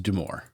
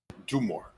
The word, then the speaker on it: Dumore: But yes, I accidentally pronounced it Dunmore at the start, but it is Dumore. Dumore. Okay. Yes. Do more.